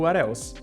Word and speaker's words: what else: E a pronúncia a gente lê como se fosse juntando mesmo, né? Então ali o what acaba com T, consoante, o else começa com E, vogal, o what else.